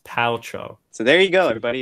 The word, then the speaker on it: Paltrow: Pet Pals Rotem petroleum Gwyneth Paltrow oh it's Paltrow so there you go everybody if you've watched